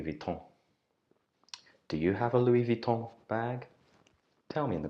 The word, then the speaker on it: Louis Vuitton: or Luis Vuitton but the French don't like to pronounce the S on the end Lewis shall I say